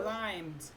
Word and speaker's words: climbed: climbed. And climbed. And Ici, climbed, le B, on ne les prononce pas.